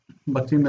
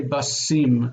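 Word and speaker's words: בתים: It wants that dagesh there because it doesn't want to say basim or bathim. It's a hard T sound, which would normally close the syllable, and the meteg is here to say, no, we want to keep the syllable open, but have the hard sound of that taf.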